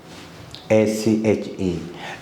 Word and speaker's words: ache: So look, headache, A-C-H-E, and earache, stomachache, backache. So ache means pain. So CH here pronounced as K.